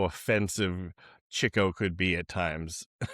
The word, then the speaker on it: Chico: Is it Chico or is it Chico? It's Chico cuz he gets the chicks.